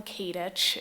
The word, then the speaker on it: Katich: to be here um kadich is how you say my last name so good to see